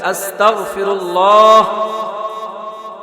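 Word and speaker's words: أستغفر الله: বলেন আস্তাগফিরুল্লাহ, এটা সঠিক, বাংলা ঘ উচ্চারণ করবেন আস্তাগফিরুল্লাহ। আর যদি আস্তাক বলেন ক উচ্চারণ করেন, এটা অর্থ হবে আল্লাহ আপনি আমাকে কাফের বানান।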